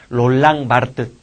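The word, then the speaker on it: Roland Barthes: 롤랑 바르트.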